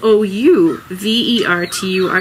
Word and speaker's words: ouverture: And overture is spelled O-U-V-E-R-T-U-R-E, ouverture, because it is the opening movement. Opening, ouvre in French is to open.